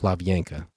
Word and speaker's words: Hlavenka: My last name is pronounced Lavianka. It's a Czechoslovakian name.